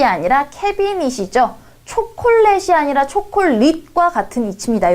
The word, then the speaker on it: 캐비닛: 원음에 가깝게 우리 발음을 해줘야 돼요. 자, 캐비넷이 아니라 캐비닛이죠.